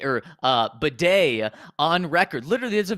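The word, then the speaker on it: Badie: we we have uh Tyler b or uh Beday on record literally there's a video of him from last year saying oh yeah my name's pronounced uh uh batty because some people were calling him baddy and he was like no it's batty well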